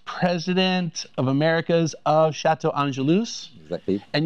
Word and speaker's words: Angelus: Now, he is with the Executive Vice President of Americas of Château Angelus. Exactly. And you do pronounce the S, correct? Angelus. Yes, yeah. I've had some people say, "Oh, you're doing Angelou."